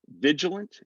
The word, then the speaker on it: vigilant: Vigilant is going to sound like vigilant. It's almost like we're going from the G straight to the L.